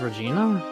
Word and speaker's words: Regina: Regina Berry Regina Berry Regina Berry is it pronounced Regina yes oh that's up next to an animal